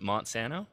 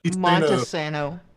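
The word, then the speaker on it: Monte Sano: Do either one of you from Alabama want to tell Josh how to pronounce the park we're staying at? What is it? Monsanto? Is it not Monta. Monta? Montesano.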